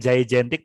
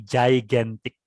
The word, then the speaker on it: gigantic: ternyata jadi cara membacanya bukan jaentik tapi gigantic ya gigantic nah kita kan bingung lah itu yang G yang satu dibaca J yang satu tetap dibaca G ya Nah itulah bahkan